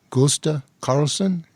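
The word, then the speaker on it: Gösta Carlsson: Tell us about the alleged UFO contact case of Gusta Carlson. Am I pronouncing it correctly?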